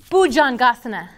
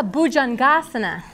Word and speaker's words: bhujangasana: you know them all you guys know exactly how to say the back part of every Sanskrit pose cuz it's always gonna be awesome at you always know that you're gonna put the emphasis on that sulabha just say asana like